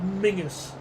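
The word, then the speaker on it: Menzies: and John Menses which I only found recently um is well when I say recently a while ago apparently that's pronounced Mingus like Ming Campbell if anyone remembers him.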